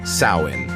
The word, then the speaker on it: Samhain: Halloween, as we know it today, has evolved from a much older festival called Samhain, pronounced Samhain.